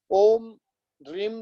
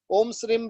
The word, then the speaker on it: ओम श्री: ध्यान से सुन लीजिएगा इसका जो उच्चारण किस प्रकार से करना चाहिए यह घाटे का ओम श्री है ओम श्रीम श्रीम नहीं है कि यह खास ध्यान